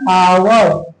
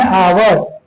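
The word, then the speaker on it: hour: जैसे एन आवर एन आवर ध्यान से देखेंगे इन सब वर्ड का उच्चारण अ है। इन सब में एच का जो उच्चारण है वो अ आएगा।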